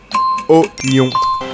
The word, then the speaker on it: oignon: The answer is oignon. Un oignon. It's easy. Question 21.